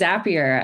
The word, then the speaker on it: Zapier: The the age-old question, thanks for having me, Jeremy, but it is Zapier.